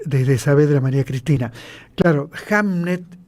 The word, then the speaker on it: Hamnet: Claro, Hamnet en inglés antiguo se pronuncia igual que Hamlet.